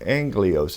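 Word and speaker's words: ἄγγελος: able to type in Angelos, is how it's pronounced, A-G-G-E-L-O-S, is transliterated, A-G-G-E-L-O-S, and I'm going to write in the definition, A-N-G-E-L or S-S-A-N-G-E-R.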